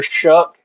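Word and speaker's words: Shough: Um, next guy I drew, Tyler Shook. Now, this guy's last name pisses me off, bro. Yeah, it's spelled like show. Sh H O U G H, but it's pronounced like Shuck or something like I don't even know if I'm saying that.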